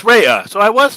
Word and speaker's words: Raya: stuff you know so is it so it's Raya so I was saying it right see Ray